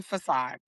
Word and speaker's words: facade: I'm like, this woman can't read or pronounce most of the English language. Fade. Oh, was it was supposed to be facade? It was supposed to be facade.